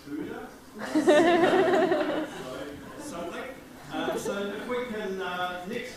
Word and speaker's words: HUDA: I now know that the acronym is pronounced HUDA.